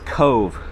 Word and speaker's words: Cobh: And yes, I did have to ask someone how to say it. This is Cobh.